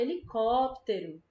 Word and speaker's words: helicóptero: helicóptero nem helicóptero né a gente fala helicóptero a gente pronuncia todas as outras sílabas mais rápido e só a gente puxa mais percebe helicóptero certo Ah